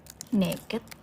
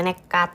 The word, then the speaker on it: nekad: Kok naked? Bacanya nekat, soalnya modalnya nekat.